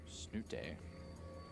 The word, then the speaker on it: Snute: Snute. I'm pretty sure that's actually very close to how you pronounce his name Yeah. in Norwegian.